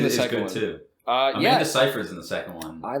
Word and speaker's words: Seyfried: But no, Amanda Seyfried. Yeah, that's how you say it. Seyfried?